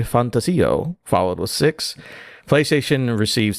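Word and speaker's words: ReFantazio: things to say did you like how I pronounce fantasio yeah I did I'd love that you pronounce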